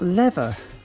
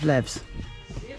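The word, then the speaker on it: leva: You put an A on it rather than an S. So it's actually, that item there is 25 lever and not 25 levs.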